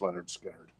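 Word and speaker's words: Lynyrd Skynyrd: survivors Street survivors yeah and this is pronounced Leonard skinnard so let me know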